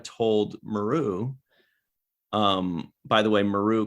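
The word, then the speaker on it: Meru: Maru, by the way, Maru called herself Mayru. Always drives me nuts when people pronounce names differently. Everybody called her Kira Maru, and she's like, I'm Mayru. I'm like, which one is it?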